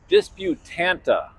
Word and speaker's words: Disputanta: I'm here at the Pilot Travel Center in Disputanta, Virginia, and I have on good authority that is the correct pronunciation, where there are the proud owners of